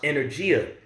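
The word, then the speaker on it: ἐνέργεια: that word working there in the Greek is pronounced energia which is where you get the word energy from all right which goes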